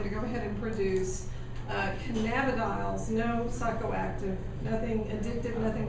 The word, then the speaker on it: cannabidiols: But you can now purchase cannabidiols, and I have Spell that.